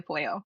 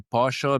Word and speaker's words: pollo: I would pronounce it like caldo de pollo, and I'll say pollo because I'm really Argentinian. I cannot hide that part. It's not pollo for me.